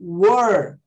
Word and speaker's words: were: Were, parece que eu tô bocejando, né?